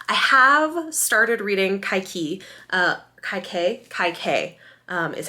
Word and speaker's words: Kaikeyi: Kaikeyi is how you pronounce her name.